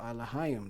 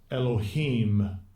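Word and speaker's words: אלהים: Second entry, Elohim. Elohim. And we don't pronounce it. And the third entry, Eloach. Eloach. Yeah, we don't pronounce it that in the Lashawan Qadash.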